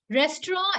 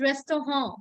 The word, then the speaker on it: Restaurant: It's just that restaurant is a foreign word. It doesn't come from German. So the pronunciation is a little bit fancy. We call it restaurant.